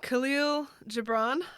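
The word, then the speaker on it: Kahlil Gibran: It's by Khalil Gibran, I believe that's how you pronounce it.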